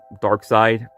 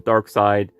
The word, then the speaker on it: Darkseid: people pronounce his name they usually call him darkseid a lot of people actually call him dark seed i like to stick with dark side i don't know i